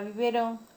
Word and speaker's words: biberón: En la palabra biberón, la sílaba tónica tiene tilde.